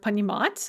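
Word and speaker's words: понимать: talk about the verb panimats as an example uh to understand the stress is on that ah in the infinitive and then it stays on the ah throughout the paradigm is less common but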